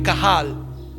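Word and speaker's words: קהל: Israel en hebreo y es cahal se escribe q a h a L cajal Ese es en hebreo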